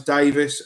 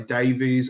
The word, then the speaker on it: Davis: someone's name wrong, because my surname's Davis and people will say Davies, and that really annoys me, because It's just a different spelling. It's pronounced the same.